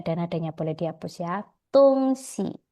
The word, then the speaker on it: 东西: Tungsi. Jadi bacanya tungsi, 东 netral 东西， ya.